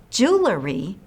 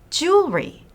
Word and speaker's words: jewelry: just to make sure remember it's not jewelry it's jewelry say it this way and